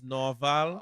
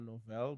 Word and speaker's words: Noval: My name is Noval. Okay. Some people say no or novel, but it's really Noval.